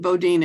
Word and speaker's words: Bodine: last name is it I pronounce it Bodine it looks like Boden but okay right it gets pronounced either way that I'm not too fussy okay great thank you